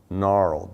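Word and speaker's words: Gnaural: And one of them is a site called NARL, G-N-A-U-R-A-L. G-N and then R-L, R-L for sound, right? So, good NARL, but I think the G isn't supposed to be pronounced.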